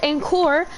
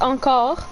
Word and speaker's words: encore: so like he said encore uh actually it's pronounced on call because that's a french word and i just look